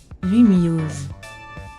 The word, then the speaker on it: Lumiose: So in France, it's pronounced Illumise. Illumise. That sucks. Lumiose. Lumiose. Okay, so it is Lumiose.